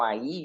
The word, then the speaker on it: Ai: Capítulo oito, a conquista de Ai, né? ou alguns falam aí, mas eh pelo menos a pronúncia que eu conheço é a capítulo 9 eh